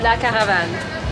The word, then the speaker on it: La Caravane: La Caravane.